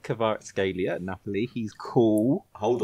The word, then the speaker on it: Kvaratskhelia: I can actually tell you how it's pronounced. Are you ready for this? Yes. Please. So it's Kvaratskhelia.